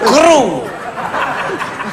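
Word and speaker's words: Crüe: CRUE bacanya apa? Crew.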